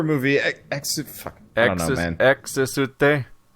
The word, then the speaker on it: Exte: It's EXTE, but it's like there's 17 extra syllables because it involves an X and is spoken in Japanese. So it's like a 5-syllable word instead. But the main image you